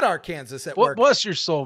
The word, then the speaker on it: Arkansas: All the new subs we got, they'll be like Arkansas. Again, no curtains. I said it right, but I'm not afraid to admit what could have been.